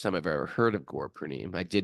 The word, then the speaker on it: Purnima: The actual pronunciation is Purnima. Gaur Purnima. Gaura It's got a Purnima. long A down there in the end.